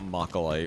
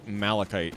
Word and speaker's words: Malachite: Sorry, not Moly. Malachite is the way how we pronounce it in this game.